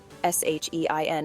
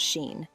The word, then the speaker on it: Shein: Yes, Shein is pronounced Shein and not Sheen.